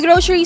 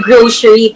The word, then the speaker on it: Groshery: asking no why the grocery para it's a mispronounced grocery store wow groceries yeah because